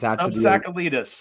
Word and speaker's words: SubTsakalidis: It is SubTsakalidis.